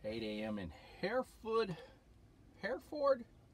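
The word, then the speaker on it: Hereford: and hair food hair Ford pronounced hair for Texas to take me back to Reno Nevada for Saturday morning Jeff was showing his owner mr.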